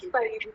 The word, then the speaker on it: Paridhi: It's Paridhi. Yes, ma'am, you pronounced it properly only.